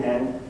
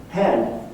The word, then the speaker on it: hen: In Sweden, they have now devised a new personal pronoun, hen, pronounced like chicken hen, hen.